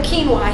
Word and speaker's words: quinoa: a lot more and I call it quinoa because that's how it's spelled so most people say quinoa but it's quinoa quinoa yes ancient Aztec